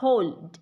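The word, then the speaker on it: whole: problem मोहब्बत होंगे समस्या इसको बोल पड़ते हैं बॉल नहीं है ये आपका होल होल इसमें साइलेंट है पूरा ठीक है होल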